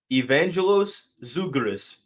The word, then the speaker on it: Vangelis Zougris: But from what I gather, you pronounce this young man's name Vangelis Zougris, 6'8", big man from Greece.